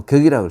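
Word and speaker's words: 格: 가라고 읽지 않고 격이라고 씁니다.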